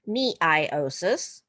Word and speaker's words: meiosis: So, we're continuing on our meiosis and genic diversity. And to what this lesson, we're looking specifically at meiosis or sometimes you'll hear it said miosis because they like to pronounce all the pieces.